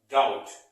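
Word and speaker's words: doubt: देखिए, यहां पर भी बी साइलेंट है। मैंने क्या बोला? डाउट।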